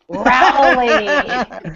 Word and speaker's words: Rowley: be joining as well I am Jill R rowy like grow that's great Jill rowy it is fantastic you're a Powerhouse in the